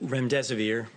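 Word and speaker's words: remdesivir: to ask out rent rent severe if I pronounced that correctly can you say it currently approved for use on the virus so REM des vir and it's a drug made by Gilead that's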